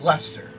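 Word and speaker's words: Leicester: It is a little difficult to spell. L E I C E S T E R. Above table. Can you spell that one more time slower? L E I C E S T E R Lester.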